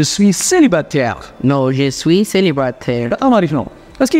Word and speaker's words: célibataire: Can you try to pronounce this, Henny? Je suis... Okay. No. Je suis... Célibataire.